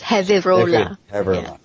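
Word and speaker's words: Gevirola: Oh, but pronounced as Heola.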